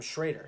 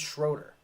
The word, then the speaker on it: Schroeder: Why does he keep calling him Schrader? His name's Schroeder.